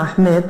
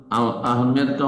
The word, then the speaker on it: আহমদ: আহমেদটা হচ্ছে বাঙালি বিকৃত উচ্চারণ। আহমদকে আহমেদ বলা এটা বাঙালি অ্যাকসেন্ট, যেটা ভুল, প্রচলিত ভুল। আসলে আহমদ, ইসিম তাফজিলের সেটা হচ্ছে আহমদ, মানে অধিক প্রশংসাকারী।